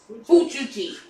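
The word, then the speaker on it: fujoshi: This is how it's said. Fuchuji. Fuchuji.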